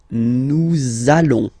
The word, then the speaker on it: nous allons: it does mean that you will have to pronounce this z sound. Okay, listen to me. Nous allons.